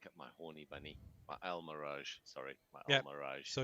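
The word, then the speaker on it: Almiraj: So that's how you pronounce it. Almirage.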